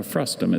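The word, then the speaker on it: frustum: Frustm has no other pronunciation.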